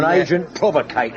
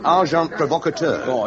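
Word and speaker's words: agent provocateur: They would persevere send in uh well probably you wouldn't know the term and agent provocator. S amazing karate. The pronunciation however is arjant provocator.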